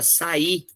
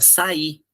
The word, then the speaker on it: sair: Então, quando eu tenho essa formação, o que acontece? Sai, ó, o A e o I tá junto. Sai, sair, separei. Sair, até o som, né? Sair. Eu preciso interromper esse som para pronunciar.